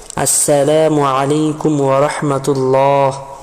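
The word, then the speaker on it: السلام عليكم ورحمة الله: বিশেষভাবে আসসালাম শব্দের হামজাকে ভালোভাবে উচ্চারণ করবে এবং মিমের পেশকে স্পষ্ট করে উচ্চারণ করে এভাবে বলবে আসসালামু আলাইকুম ওয়ারাহমাতুল্লাহ।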